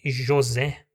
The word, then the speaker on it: José: Por exemplo, tem o nome José, né? Então tem um O fechado de Jô e Zé é aberto.